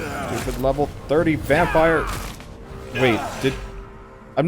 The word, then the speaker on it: Vampyr: How's the vampiring going? It is actually pronounced vampire.